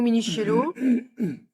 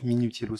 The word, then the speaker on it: Minichiello: ok, Laetitia Saucé, Minichiello, Mon nom se prononce Minutiello, s'il vous plaît, merci.